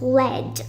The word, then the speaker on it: lead: First one, you pronounce it as lead, as in he had no lead, so he could not use his mechanical pencil.